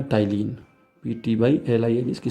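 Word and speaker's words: ptyalin: जो most common enzyme उसका नाम है टाइलिन पीटी वाई एल आई इसकी स्पेलिंग है पी से शुरू होगी इसका नाम है टाइलिन या फिर इसे आप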